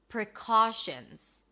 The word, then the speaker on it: precautions: That's a P and an R and a schwa. Round your lips for the R. Ca, a k sound, then the as in father, precaution, or shins in plural. It's a sh sound, an N, and a Z.